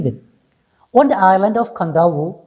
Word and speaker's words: Kadavu: okay let's see that on the island of kandao pronounced kandahar okay it is written kadawa and still pronounced as kandao one of the larger islands of the fiji